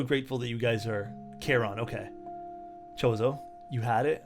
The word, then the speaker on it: Charon: Charon. This is pronounced that way.